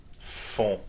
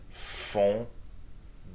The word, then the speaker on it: font: Ils font. With your nose. Yeah, nasal sound.